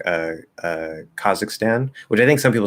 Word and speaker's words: Kazakhstan: lot of these like is it kazakhstan no no stan is stan okay stan is stan